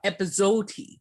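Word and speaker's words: epazote: linguist i believe it's pronounced i win and it's spelled aj i w-a-i-n and then um the other is a mexican device called episode and there's epa z like zebra o t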